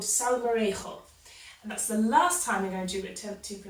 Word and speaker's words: Salmorejo: a Spanish dish called so variable that's the last time you know dude it took to pronounce it correctly from here I was saying it in that good old British way Sal Maria so summary is a